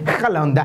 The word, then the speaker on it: Haaland: Voilà, la belle prononciation, c'est Haaland.